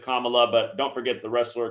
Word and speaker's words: Kamala: isn't it Kamala Kamala I know she pronounces it Kamala but don't forget the